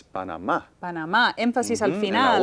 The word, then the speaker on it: Panamá: English, how do we pronounce this word? In English, the country is Panama.